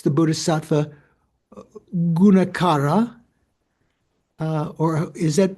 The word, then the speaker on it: Gunakara: And then finally, in chapter 6, the Bodhisattva Gunakara, or is that pronounced Gunakara? How would you pronounce it? Yeah, probably Gunakara. Gunakara, because there's a long A there you put the emphasis on.